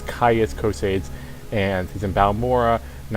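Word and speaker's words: Caius Cosades: see this guy named Ka Kos I think I mispronounced as cases uh the the Roman dimension of the Imperials kind of taking over my brain there but his name is kais coads and he's in balur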